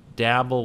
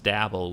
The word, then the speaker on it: Dabble: It's obviously marketing to the people who play Scrabble, because the name is Dabble, which rhymes with Scrabble.